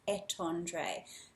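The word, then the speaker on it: étendre: is similar to tendu but the correct pronunciation to stretch is at Andre to stretch okay and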